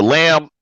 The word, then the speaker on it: lamb: And So see, the lamb is the lame because the B is silent and the E can also be silent.